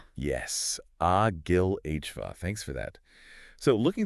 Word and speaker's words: Agilova: from the brokers at Agilova. And just for anyone taking notes, that's pronounced Agil Ova. Yes, Agillhva.